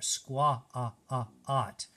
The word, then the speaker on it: squat: It uses the A in a really weird way. It's not a, it's not squat, it's not the long A, but it almost is like a short O in there, squa-a-a-at. So it's s-qu-a-t. It rhymes with hot, which has an O in there.